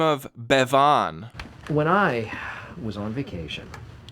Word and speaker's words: Bevan: Now, Bevan is a person of interest to the anti-strangling task force. Who is Bevan? Michael makes a strong point of confirming his name when Kevin mispronounces it Bouvan.